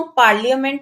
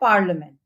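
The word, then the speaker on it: parliament: for example business पार्लिमेंट इसको पामेंट नहीं बोलते हैं इसकी प्रोनंसिएशन है पार्लिमेंट नेक्स्ट है लेटर जे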